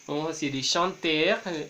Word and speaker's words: chanter: En el infinitivo de los verbos del primer grupo es importante que la R no se pronuncie, a pesar de que nos sintamos tentados a hacerlo. Vamos a decir chanter y chanter, parler, parler,